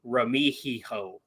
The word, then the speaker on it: Remigio: Remigio. Remigio. Yeah. H sound, not a G sound.